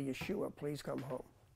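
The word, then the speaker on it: ישוע: form of it and if you were Hebrew you would be saying it this way Yeshua so that's actually the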